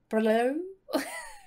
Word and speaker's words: BRLO: And I've had a look on their website and it says that there's no incorrect way to pronounce it. So, BRLO.